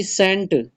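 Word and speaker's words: scent: उसके बाद है जी सेंट, सेंट में क्या आपका साइलेंट है, यहाँ पे सी साइलेंट है, SENT, ये सेंट बनता है, सी यहाँ पे क्या है आपका, साइलेंट है।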